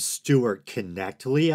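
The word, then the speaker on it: Stuart Knechtle: It was between Matt Dillahunty and someone named Stuart Connectly, I think it is. I believe that's how he himself pronounces it.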